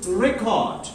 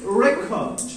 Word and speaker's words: record: When you pronounce it as a noun, it is record. When you pronounce it as a verb, it becomes record.